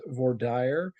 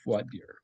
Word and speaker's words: voir dire: And uh some people pronounce vadier as vorire but the more common pronunciation is vadier.